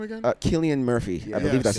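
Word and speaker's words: Cillian: a bigger star because what's his name again killian murphy i believe that's how you pronounce this yeah yeah but you know he's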